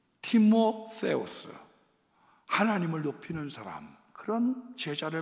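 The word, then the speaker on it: Τιμόθεος: 그 중에 가장 예뻐했던 제자가 누구냐면 디모데입니다. 원래 발음은 티모세우스, 하나님을 높이는 사람, 그런 제자를 만들었어요.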